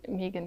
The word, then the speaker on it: Megan: But yeah, I think she's called Megan because it rhymes with vegan. And I think in the US they say Megan, maybe. I think with a slight twang, all right.